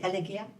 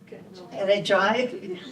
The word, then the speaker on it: elegiac: When dance theater, for me, conveys, how do you pronounce it, elegia? Elegiac.